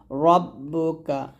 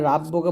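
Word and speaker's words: رَبُّكَ: আইনের টান দিয়ে ফাআলা রব্বুকা এখানে রাব্বুকা বলবেন না র টা মোট করে রব্বুকা বা জের বি হামজা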